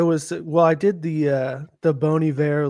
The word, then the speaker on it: Bon Iver: It's Bon Iver.